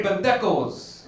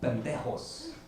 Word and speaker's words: pendejos: Like, I was like, hey, pendejos. And she's like, it's pronounced pendejos.